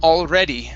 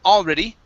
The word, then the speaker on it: already: word here uh okay it's pronounced already the stress is here in the middle instead of already it's already already good good um all right